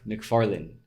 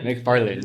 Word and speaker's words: McFarlane: Rob McFarlane. Right? Did I say it right? Yeah, McFarlane.